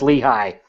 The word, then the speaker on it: Lehi: l eheh i GH you drop off the GH you don't even freaking change the pronunciation it still says Lehi there's an entire Valley